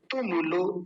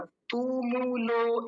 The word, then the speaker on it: तुमुलो: शब्दस तुमुलो, तुमुलो, दोनों छोटे ऊ की मात्राएं, जल्दी बोला जाएगा। तुमुलो, ऐसा नहीं, गलत उच्चारण है।